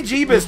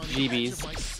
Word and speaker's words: Jeebies: Weebie Jeebus does not rhyme. It's supposed to be pronounced Jeebies.